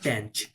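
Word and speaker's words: tanh: Same ওয়েতে tan এরও একটা কাউন্টার পার্ট হবে ট্যাঞ্চ, উচ্চারণ হচ্ছে ট্যাঞ্চ, সাইন কস আর ট্যাঞ্চ।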